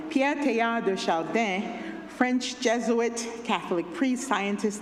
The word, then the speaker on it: Pierre Teilhard de Chardin: This little life of mine, I'm gonna So I'll pronounce his name in French, so if you usually pronounce it in English, sorry. Pierre Teilhard de Chardin, French Jesuit, Catholic priest,